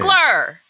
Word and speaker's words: Coogler: How do you pronounce his last name? Cougler.